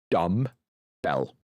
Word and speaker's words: dumbbell: The B is silent, so it's just dumb bell.